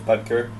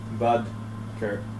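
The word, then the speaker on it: Boedker: you guys say it's budker it's like I learned it right before that comment came up it's like in between bod and Bud it's like Bud Kur anyways he's on the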